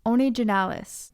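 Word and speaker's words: Onygenales: They are found in an order that I believe is pronounced Onigenalis, which include fungi that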